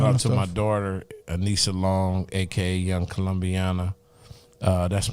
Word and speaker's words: Aanisah: my daughter Anissa Long, aka Young Colombiana.